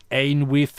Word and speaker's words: Ainwith: The closest pronunciation of my name in your language is Ainwith, which I guess we'll keep because it's unique.